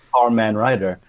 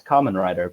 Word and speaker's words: Kamen Rider: They had it was a driver, but they'd call it was Carman, spelled like car, C-A-R, and it was Carman Rider. Because they don't know, do they? They have no idea. Like someone says to you, "Oh, it's Kamen Rider," but you're like, "What?"